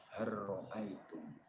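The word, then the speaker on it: هل رأيتم: Hal ro'aitum, cara bacanya har ro'aitum.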